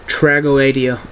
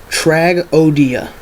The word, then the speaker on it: Tragoedia: one is this one I hear tragodia pronounced tradia all the time trago Adia it's not tradia that just bothers me that don't even sound right um the pronouncing the pronunciation is tragodia tragodia it means tragedy in French